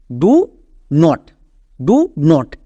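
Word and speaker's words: don't: তাহলে আমরা এর উচ্চারণটা কী করবো? ডন্ট, ডু নট না। আমরা যদি এরকম ওয়ার্ড দেখতে পাই উচ্চারণ করব ডন্ট।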